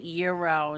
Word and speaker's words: gyro: not uh Mandy says they pronounce it Euro instead of Gyro when you say tomato